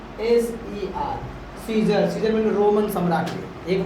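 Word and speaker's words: Caesar: जर ठीक है तो सी ई ए एस ई R scissor यहां पर ए का प्रयोग क्या हो गया नहीं हुआ मतलब ए एक तरफ से कहा जाए तो साइलेंट भी है उसका कोई उच्चारण नहीं होता है ठीक है वो चुप रहता है है ना बाकी ये सब अपना काम करता है चलो उसके बाद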